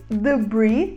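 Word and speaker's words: debris: singular e no plural mas nós falamos The Bridge sem pronunciar o s tanto no singular quanto no plural e uma aplicação da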